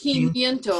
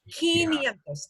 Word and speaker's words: quinientos: Yeah, quinientos. 500. 500 is the hard one to pronounce. Quinientos. Think of keen. Wow, that's really keen.